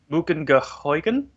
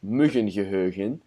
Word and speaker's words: muggengeheugen: No, that's very German the way you pronounce that. Oh, I'm sorry. Hang on, let me try it again. Muggengeheugen? It does the same thing, literally. I know. It's Muggengeheugen, but there's a dialect.